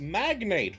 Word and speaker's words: magnate: Miss Ellie, it's pronounced magnate.